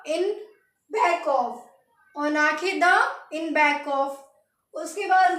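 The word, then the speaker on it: en arrière de: तो इसके पीछे के लिए लगाएंगे हम ऑन आंखें दो। क्या बोलेंगे? ऑन आंखें दो, ENOARRIEREDE। तो हम बोलेंगे ऑन आंखें दो, ऑन आंखें द in back of, ऑन आंखें द इन बैक ऑफ।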